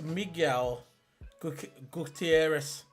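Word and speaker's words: Miguel Gutiérrez: How do you pronounce his name again, the guy? It's Miguel Gutierrez.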